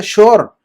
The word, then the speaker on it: sure: अच्छा अब देखते हैं उसके बाद एक लफ्ज है श्योर। इसको SURE, सूरे नहीं पढ़ना आपने।